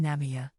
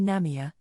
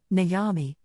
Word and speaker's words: Namiya: with some neighborhood kids they kept mispronouncing the store name namami namami as in problems problems there's a line